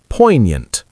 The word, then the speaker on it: poignant: So this beautiful word, meaning moving, is pronounced poignant. Poignant. Isn't that gorgeous to say? Poignant. So we have a silent G in there.